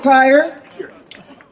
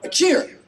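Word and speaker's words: Chier: Oh, hello, Cryer? Cheer. Oh, that's an interesting pronunciation. C-H-I-E-R. Cheer.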